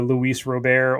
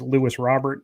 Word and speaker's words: Luis Robert: There's 22, and depending upon how you pronounce it, if you're the traditionalist, it's the Luis Robert, or if you are just the Joe Schmo breaker, it's Lewis Robert.